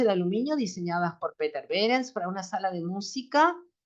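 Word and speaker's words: Behrens: de la casa de Peter berens así se pronuncia Peter berens otro grande del movimiento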